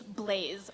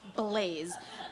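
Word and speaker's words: Blase: teenage girl actually its blaze with an S now but isn't that how you spell blasé no it's pronounced blaze just with an S where the Z would be its creative Shh sure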